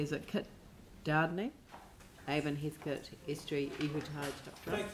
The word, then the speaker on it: Doudney: if I'm pronouncing it correctly, is it Kit Doudney? Avon, Heathcote, Estuary, Ihutai. Thank you, Leanne. Sorry, how do I pronounce your surname, Kit? Doudney.